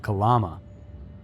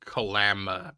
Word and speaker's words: Kalama: One of the notable missing girls was Sheila Silvernails of Kalama, a city in Washington's... It's actually pronounced Kalama, but I'll let it go.